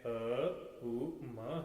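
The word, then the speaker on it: ॐ: करने की हरि भक्तो इसमें तीन बार ओ का उच्चारण किया जाता है यह ओम नहीं यह अकार मकार उकार यह ओम है अ उ म है भगवान ने अक्षर ब्रह्म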